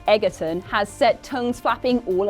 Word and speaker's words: Egerton: for kinsman's next sequel Taron Egerton or should we say Edgerton has set tongues flapping